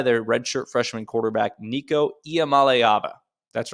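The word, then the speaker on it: Nico Iamaleava: country led by their red shirt freshman quarterback Nico IAM malava that's right Nico iam malava in case your friends ask that's how you pronounce it I looked it up trust me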